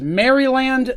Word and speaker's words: Maryland: there for a reason there is maryland the state if you take the word mary and you take the word land and you put them together it's mary land okay these are the